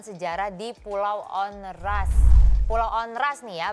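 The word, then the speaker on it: Onrust: Pulau Onras nih ya bacanya ya.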